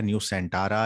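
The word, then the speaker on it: Nusantara: नई कैपिटल का नाम न्यू सेंट्रा रखा गया है, न्यू सेंटारा या न्यू सांटरा, जो इसकी प्रोनाउंसिएशन है, लेकिन ये इसका नाम है, ये याद रखिएगा, है ना, न्यू सेंटारा।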